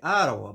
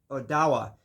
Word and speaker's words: Odawa: Being from this northern Michigan area, it is an Odawa bow or some people would say Ottawa, but Odawa is how they pronounce it.